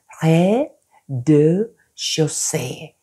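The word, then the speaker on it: rez-de-chaussée: 여기 보면은 조금 발음이 힘든데 프랑스 말의 발음, 자음을 안 해요. 그리고 R 발음이 조금 힘들어요. 그래서 레, 드, 쇼세.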